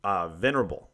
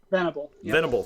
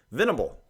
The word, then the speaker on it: Venable: Loretta and surprisingly will venerable I can't all like don't know why I can't say his name without a looking at it but Venable thank you I put an R in there Venable the vulnerable Will Venable